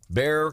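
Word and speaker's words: Bexar: uh but you just search Bear County and that's spelled b-e-x-a-r b-e-x-a-r just like Google Bear County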